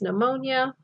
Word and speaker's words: pneumonia: that we all know pn is pneumonia and kn is knee we don't those are silent obviously when we're looking at